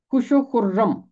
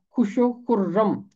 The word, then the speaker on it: خوش و خرم: ہے خوش و خرم۔ خے کے بعد واو ہے اور واو خاموش رہے گی۔ خے کے اوپر پیش ہے، خے ملے گا آ کے شین کے ساتھ، یہ واو مادولہ ہے، یہاں واو کی آواز خاموش رہے گی۔ اس کا تلفظ ہوگا خوش اور آگے پھر واو ہے تو بنے گا خوش و خرم، رے کے اوپر تشدید